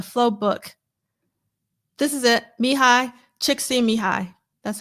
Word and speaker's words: Csikszentmihalyi: Csikszentmihalyi. That's how you pronounce his name.